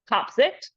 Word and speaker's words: Kaapzicht: the mountain from there topsi which is not the right pronunciation but I'm not going to tread German is German for